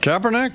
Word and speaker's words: Kaepernick: Is that Kaepernick? Yeah! Wow. Oh, my! Does not rhyme with air. And last one. Rhymes with dick.